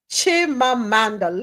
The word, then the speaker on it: Chimamanda: right let's keep it moving celebrated author Chima chimamanda let me say it right chimamanda adichi said